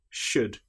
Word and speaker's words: should: all palm or calm another time when the letter L is not pronounced is when we have the letters U L do for example the word would could should in these cases again the L is completely silent the letters B and